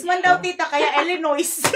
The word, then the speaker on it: Illinois: taga illo illo illin Illinois Illinois may s man illin five may s man daw Tita kaya Illinois silent s silent s na daw yun cling